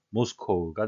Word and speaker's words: Moscow: 러시아의 수도 모스크바는 영어식 발음은 모스코우가 되겠습니다.